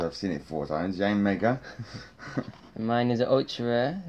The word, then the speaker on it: Yanmega: Reverse Holo is a Yangma. Yanmega. Yeah, I keep saying it wrong because I've seen it four times. Yanmega.